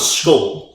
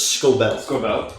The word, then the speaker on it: Scobell: So I thought it was Scoble, but it's Scobell.